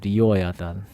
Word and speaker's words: 리워야단: 리워야단. 아, 예. 리워야단의 영어식 발음이 리 리바이어선이에요.